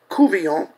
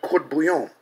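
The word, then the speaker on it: court-bouillon: believe that even the Louisiana fish sauce that is mispronounced Cuvillon, after the Avoyelles family, Creole family surname, was a gift of the Indians. The French call it court bouillon.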